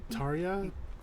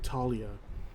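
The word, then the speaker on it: Tarja: of himself you're like Taria t a r j a you see it like Taria or Talia it sounds like Talia how they pronounce it in this game Happy wfu is back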